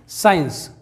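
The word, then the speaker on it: science: अगला एग्जांपल देखते हैं साइंस यहां पर एस के बाद सी साइलेंट है साइंस मतलब विज्ञान नेक्स्ट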